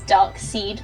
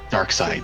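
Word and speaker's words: Darkseid: Dark Side. That's who. Dark Seed. SEID. Yeah, but it's always, it's always pronounced Dark Side. So They do pronounce it dark side, yeah.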